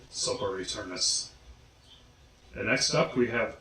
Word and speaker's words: Sopor Aeternus: Sopor Aeternus. Well, technically it's Sopor Aeternus and the Ensemble of Shadows, but everyone I know just says Sopor Aeternus.